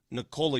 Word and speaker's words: Nikola: that we've been mispronouncing Nikola Jokic's name for years. I asked him, I said, how do you properly pronounce it? He said, it's Nikola.